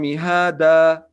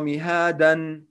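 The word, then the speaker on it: مهادا: For example, alam naj'al al-ard mihada. It's wrong to say alam naj'al al-ard mihadan. No, it's wrong. The correct way to recite alam naj'al al-ard mihada wal jibala awtada وَخَلَقْنَاكُمْ أَزْوَاجًا وَجَعَلْنَا نَوْمَكُمْ سُبَاتًا.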